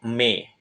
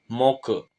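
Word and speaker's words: 目: kita ke kunyomi ongyomi kunyominya itu me oke yang artinya mata untuk ongyominya adalah Moke Cara pakainya gimana langsung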